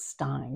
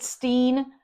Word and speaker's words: Stein: Welcome, Stein. Did I leave anything out or get anything wrong? Since we're talking about fallibility, you you might have mispronounced my name. Is it Steen? It's not.